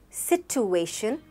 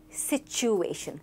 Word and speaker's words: situation: How would you pronounce this word? Don't say situation, say situation, situation.